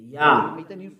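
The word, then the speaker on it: יה: Yah. According to the Hebrew, when you see this word, it is read Yah in Hebrew.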